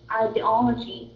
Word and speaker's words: ideology: So we stress on the second or the third syllable? The first stress is in the third syllable, and there is a second stress in the first syllable. There's two ways to read this. Okay, you can read the first syllable. The first sound as a long I or a short I.